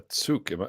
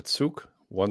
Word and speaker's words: Tsuko: So a tsuk, am I saying that right? A tsuk, one syllable? Tsuko.